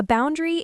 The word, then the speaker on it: boundary: Remember, the stress is on the first syllable. Boundary. Guilt.